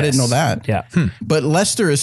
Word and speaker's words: Leicester: Leicester. Leicester. Spelled similar to each other. Oh, I see. Like close to each other. Oh, yes. I didn't know that. Yeah. But Leicester is spelled like Leicester.